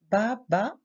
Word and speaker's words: bat: Le verbe battre, nous avons un T au singulier, mais nous ne le prononçons pas. Ba, ba.